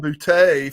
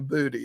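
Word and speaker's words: Boutte: yeah but booty in Louisiana it can be pronounced either way booty or bhute and he's been bhute for the last couple of years but he's gone to going back he said no it's really booty so if that's what his mama calls him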